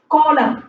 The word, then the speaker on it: column: vertical line or column. See, column. C-O-L-U-M-N. Column. N is silent.